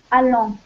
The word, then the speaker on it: allant: Alors, ça se prononce allant.